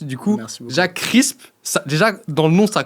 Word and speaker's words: CRSP: Exactement, comme le nom l'indique, c'est CRSP, il n'y a pas de voyelle, c'est un bruit. Crisp. Donc déjà, pour le prononcer, il faut croquer dans un de nos sandwichs, comme ça vous arrivez à le prononcer.